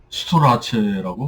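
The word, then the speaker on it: Storace: 이걸 보통 이제에 발음하면 스트레이스인데이 낸시 스트레이스는 자기 자신의 어떤 이테리의이 어떤 그 뿌리를 생각해서인지 자기 이름을 스토라체라고 발음을 했다고 합니다. 혹은 스토라 스토라치 스토라치나 스토 스토라체 이렇게 발음했다고 알려지고 있습니다. 그 오빠인 스티븐 스트레이스는 자기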